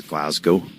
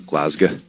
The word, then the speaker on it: Glasgow: 9th is Glasgow. I was told I'm saying it wrong. Glazga. Glazg. Glazga. Glazg. Glaz. Glasgow.